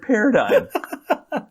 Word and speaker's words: paradigm: It's nonsense that we pronounce that word paradigm. What's the G for?